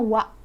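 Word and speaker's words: は: Jadi kalau yang ha itu dibacanya wa ya, dibacanya wa.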